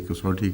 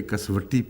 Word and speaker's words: کسوٹی: یہ لفظ کسوٹی درست ہے، اسی طرح اس کا تلفظ ہونا چاہیے کسوٹی کا، لیکن ہم نے اپنے اسکول میں پرانے زمانے میں ایسے اساتذہ سے جو پنجابی زیادہ جانتے تھے ان سے کسوٹی سنا ہے اس کا، اور پنجابی میں شاید کسوٹی ہی کہتے ہوں.